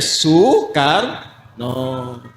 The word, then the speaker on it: Soekarno: Karena itu Presiden Soekarno ditulisnya Soekarno, dibacanya Soekarno.